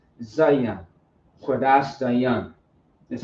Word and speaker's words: Zayan: It sounds like there's an I, but there is not an I. It's Za and Yan. But some people say Zayan when it's Zayan.